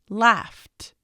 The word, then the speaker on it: laughed: word like left left laughed what do you hear at the end laughed you hear the T sound in this case yes